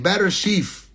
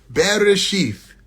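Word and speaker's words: בראשית: Bereshith. Okay? This is Be, Re, Aleph, Shin, Yod, Tav. Bereshith. There's a bunch of ways you can spell that.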